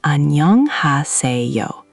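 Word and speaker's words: 안녕하세요: It's annyeonghaseyo. The emphasis lands on nyeong and se.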